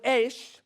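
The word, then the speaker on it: אש: The word Esh has the letter Aleph at the beginning, and there the Aleph is a silent letter.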